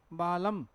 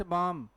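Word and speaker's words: balm: है फौक और क्या लिखा है भाई बालम इट्स बाम बाम का मतलब क्या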